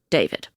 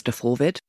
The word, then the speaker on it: D4VD: The car belonged to Gen X idol and singer-songwriter D4VD, pronounced David. Henry Zabrowski says DeForvid, and I can't get it out of my head.